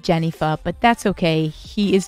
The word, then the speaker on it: Jennifer: lots of lot likes to pronounce my name ganefa instead of jennifer but that's okay he